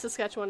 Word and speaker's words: Saskatchewan: Yes, Saskatchewan.